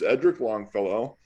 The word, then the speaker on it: Edric Longfellow: Actually, call me Edric because I mispronounced my name in my early days in the SCA. But the proper pronunciation is Edric Longfellow.